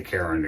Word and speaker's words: Charon: Okay, Charon or Sharon or however you want to pronounce it.